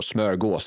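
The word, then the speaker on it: smörgås: I learned where the word uh smorggas board or smaros or smurgos as it's actually pronounced Swedish but I'm pretty sure Americans have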